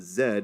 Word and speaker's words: Zed: called The Zed Stacks Z said as Zed as Brits pronounce it this was originally